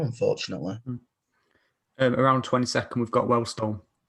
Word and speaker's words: Wealdstone: Around 22nd, we've got Wellstone. Wealdstone, that's how you pronounce it.